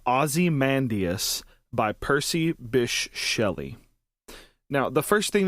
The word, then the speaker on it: Bysshe: his middle name the bish is spelled b-y-s-s-h-e so you might hear people pronounce it by she or bishi or whatever but i'm pretty sure